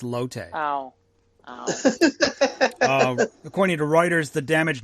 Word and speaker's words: Lotte: a mall for lattes no lotte it's l-o-t-t-e not latin not lattes it's low-tech according to reuters the